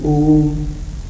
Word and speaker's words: Om: It is actually a syllable. It is the combination of 3 letters, A-U-M.